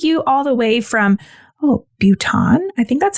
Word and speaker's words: Bhutan: It's pronounced Bhutan, and it's a country of South Asia and